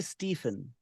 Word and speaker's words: Stephen: Never say Stephen. The pronunciation is Stephen. Stephen. Okay.